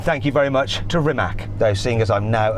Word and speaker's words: Rimac: And thank you very much to Rimac. Though, seeing as I'm now an honorary Croatian, I should say it properly. Rimats.